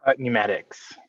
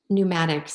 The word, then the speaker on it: Pneumatics: Pneumatics. Pneumatics, sorry.